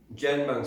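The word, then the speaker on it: Dganbung: That's out of my book, Janbung's Peaceful Protest in Nimbin. That's spelled D-G-A-N-B-U-N-G. Yes, apostrophe S. Janbung.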